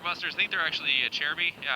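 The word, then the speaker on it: Acerbis: I think they're actually a Cherby. Yeah, I know, Service, but it's apparently pronounced a Cherby.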